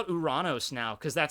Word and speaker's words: Uranus: Uranos. Uranos. Which I think sounds way cooler. Hoorah! Because Uranos. it's based off of the god of the sky, and it's Uranos.